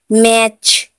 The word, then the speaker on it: match: TCH में, अभी TCH में मैच, MATCH, मैच, मैच में टी साइलेंट है।